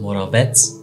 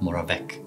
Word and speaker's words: Moravec: Hans Moravetsz was an Austrian scientist and he's pronounced Moravetsz, not Moravec tells us that what's easy for a doctor, like holding a patient's hand, is hard for a robot.